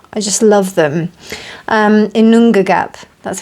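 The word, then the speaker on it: Ginnungagap: Um, Inongagap, that's how you pronounce it.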